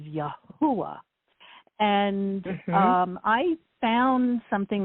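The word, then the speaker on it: Yahweh: the Hebrew language and even if you put the yud in which is the y s it makes it yahovah it's still not accurate so the name the true pronunciation of the god of Israel is yahwa and um I found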